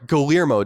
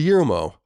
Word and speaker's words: Guillermo: yeah oh I'm sorry Guillermo del Toro you get yoru mo how do you say that you're Hispanic Guillermo yeah thanks to that nice